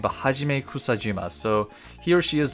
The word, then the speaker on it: Hajime Kusajima: and all of Karen's Pokemon is done by hajima sorry I butchered that name but Hajime kusajima so he or she is the one that